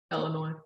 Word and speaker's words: Illinois: company they are an illinois based uh medical marijuana company um so uh what's that there's no s illinois you usually say it